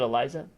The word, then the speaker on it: Eliza: Is it Eliza? Yep. I'm saying it right?